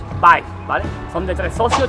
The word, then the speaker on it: Vib3es: Y en este ladito tenemos Vives, en la calle Juan de Zoya, que se llama Burger Vives, que más reñido como se pronuncia es Vives, ¿vale?